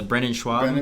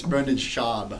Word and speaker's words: Brendan Schaub: him, or I just related to him, the Brendan Schwab. Brendan Schwab. Schwab or Schaub? I forget, how do you say his name? He hates that. It's Brendan Schaub.